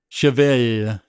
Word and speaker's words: Cheval: french for horse and it's pronounced kind of like chevy with a sustained l i can't quite do